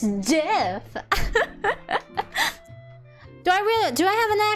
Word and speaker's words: GIF: It's GIF.